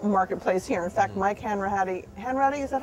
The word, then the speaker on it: Hanratty: In fact, Mike Hanratty, is that how you pronounce it? I believe so. Hanratty.